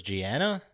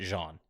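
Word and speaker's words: Jeanne: I thought this name was Gianna, but they all in the game pronounce it Jean.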